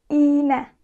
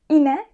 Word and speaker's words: iğne: Ama bu durumda önceki sesli harfi uzun söylüyoruz. Yani iğne. İne değil. Mesela yumuşak G olmasaydı bu ine olurdu. Ama yumuşak G ile, yani yumuşak G ile birlikte olunca bu iğne oluyor.